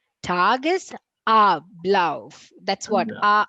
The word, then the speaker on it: Tagesablauf: It's not te, it's ta. The a has to be abcd. Tagesablauf.